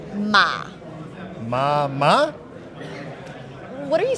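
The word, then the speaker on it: 马: So this is pronounced Ma.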